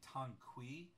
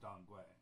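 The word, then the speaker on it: Danggui: bman Tang dangu formula some people will say tangqi formula because it's using the way Gils and it's spelled t n qu excuse me Ki so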